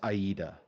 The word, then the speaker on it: Aida: in chat apparently it it is aida is how it's pronounced oh that's okay that's